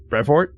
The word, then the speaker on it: Brevoort: So, recently, I don't know why it's come up so frequently, but Tom Brevoort, is that how you pronounce that dude's last name?